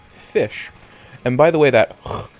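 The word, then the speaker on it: ghoti: from cough or hiccup, the GH from cough, it's a GH. Right? So that's where you get the frown. And OTI in a couple of words makes an ish sound. So gochti actually is pronounced as fish.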